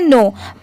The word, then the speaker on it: know: फिर कनो नहीं पढ़ेंगे, यहाँ पर के भले ही स्पेलिंग में लिखा है पर इसको हम लोग सिर्फ नो पढ़ते हैं, ठीक है।